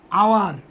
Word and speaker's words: hour: He worked for dash দিলাম আওয়ার, HOUR। এটাও দেখো এই আওয়ার অর্থ ঘন্টা, অথচ এইচের কোনো উচ্চারণ নাই, অনুচ্চারিত এইচ, এটা অনুচ্চারিত